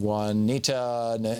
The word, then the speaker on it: Juanita: Pat in Juanita, Nebraska.